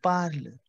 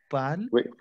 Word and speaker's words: parle: My first E, exact parle. My first E, that PARLE, that belongs to I, which is je parle. Je parle. Say clear. Why didn't you pronounce the E? We don't pronounce the E.